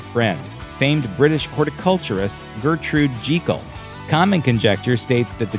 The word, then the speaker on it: Jekyll: Stevenson borrowed the name from his good friend, famed British horticulturist Gertrude Jekyll. Common conjecture states that the choice of this name that rhymes with seek-all is a clever bit